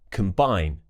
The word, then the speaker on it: combine: If it's an unstressed syllable, we'll use the schwa sound on that letter O. So it will be k, that's a schwa sound, relaxed mouth. Complain, continue, combine, combust.